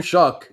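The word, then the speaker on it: Shough: Tyler show well Tyler shock it's pronounced Shock by the way it's not show yes it's a tough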